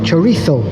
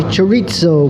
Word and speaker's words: chorizo: third book tourism oh Spanish I think pronounce it chorizo most English people a lot of westerners say chorizo with a z say but whatever it tastes